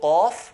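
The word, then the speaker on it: قاف: So qaf, like al-qalam, qaf is right at the back, near the throat.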